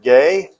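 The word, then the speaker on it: γῆ: So here we are, Bible geography, the definition of geography, the word gay. It's gamma eta. We pronounce that gay.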